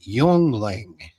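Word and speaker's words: Yuengling: It's a uh it's an anglicized version of the German name Yong Lling.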